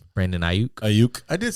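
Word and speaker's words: Aiyuk: Ayuk.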